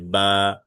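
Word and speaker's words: ب: এরপরে বা, বা হচ্ছে দুই ঠোঁটের ভিজা অংশ থেকে উচ্চারণ হবে, বা।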